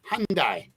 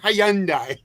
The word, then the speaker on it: Hyundai: it hyand Hy Lori it's the why is silent it's Hundai Hyundai Hyundai whatever but it's not Hyandai Hyandai that's a that's a